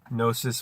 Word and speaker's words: gnosis: words knowledge and gnosis gnosis with the silent G letter 7k the silent k